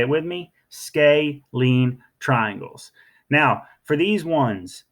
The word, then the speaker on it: scalene: triangle CD are called scalene triangles none of their side lengths are the same okay scalene sort of like scales right scalene triangles say it with me scalene triangles now for these